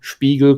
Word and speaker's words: Spiegel: i think korean and spike spiegel or spiegel as you would originally pronounce it is a jew or is the jewish background that's where the name spiegel comes from it means